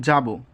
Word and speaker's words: যাব: তো 5 নম্বরে যে নিয়মটি আছে সেটি হচ্ছে ক্রিয়াপদ যদি থাকে, ক্রিয়াপদ যদি থাকে, ক্রিয়াপদের অন্ত অ এর উচ্চারণ ও এর মতো হবে। যেমন যাব, করব। হ্যাঁ, তো এখানে এই যে যাব এটা একটা ক্রিয়াপদ এবং শেষে নিচে কি আছে?